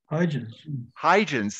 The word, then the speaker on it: Huygens: the rings of, does somebody know how to pronounce that correctly? Huygens? Huygens, thank you.